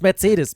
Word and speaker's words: Mercedes: Why as a German guy, why do I pronounce Mercedes in an English way when I speak English? It's stupid. It's Mercedes, man.